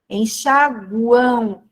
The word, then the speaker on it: enxaguam: Enxaguam. A letra M aqui representa a semivogal U, tá? Por quê? O som final aqui é som de U. Enxaguam.